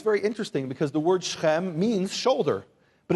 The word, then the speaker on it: Shechem: Now, in the English, you'll see Shechem and Hamor, but it's pronounced Shechem, say Shechem, and Hamor, say Hamor.